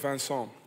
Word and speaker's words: Vincent: Vincent oder Vincent, wie wollen Sie ausgesprochen werden? Ja, also eigentlich ist mein Name Vincent. Aber ich habe 2 Jahre in Hamburg gespielt. Und das hat nie geklappt, weil das ist schwer auszusprechen für die Deutsche, glaube ich.